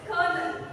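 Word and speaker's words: colonel: actually the word is colel there's no R in the word but still it's pronounced as colel like there's a huge difference with the how is pronounce it and the word it's not colonal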